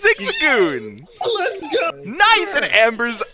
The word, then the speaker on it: Zigzagoon: oh God I'm going to say it wrong Zigzagoon that's it it's Zigzagoon let's go nice and Amber's at a nice